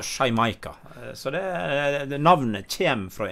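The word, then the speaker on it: Xaymayca: Ja, det ligner veldig mye på det så det i dag, men det startet med bokstaven X, men uttales sånn cirka da Shymaika. Altså da er det X-A-Y-M-A-Y-C-A. Ja. Så Shymaika.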